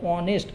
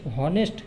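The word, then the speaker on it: honest: তার কারণ অনেস্ট, হনেস্ট আসছে না, অনেস্ট। এইচ একদম সাইলেন্ট থাকছে, তার জন্যে এখানে আমাকে বসাতে হবে হি ইজ অ্যান অনেস্ট ম্যান।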